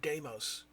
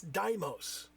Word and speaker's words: Deimos: It drives me nuts that it's fucking Deimos. The word is Greek. It's Deimos. But they pronounce it Deimos in the game because everybody in the future is fucking stupid.